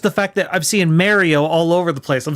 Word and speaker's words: Mario: Well, no, but it's just the fact that I'm seeing Mario all over the place. I'm suddenly like, okay, so I didn't just invent this out of nowhere. No, that's how they pronounce Mario over there.